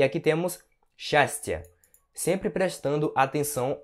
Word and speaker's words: счастье: Então você vai pronunciar счастье, ok? Счастье, счастье. Apesar da escrita ser assim, a pronúncia é assim, tá certo?